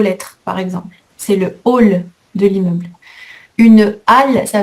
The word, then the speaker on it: hall: Attention, hall sans eux se prononce hall avec le son O comme une tôle.